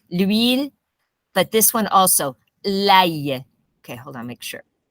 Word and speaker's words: l'ail: L'ail. Okay, hold on, make sure. Yeah, l'ail. L'ail. Now, I'm exaggerating it, but it's important to exaggerate it because we don't pronounce it correctly.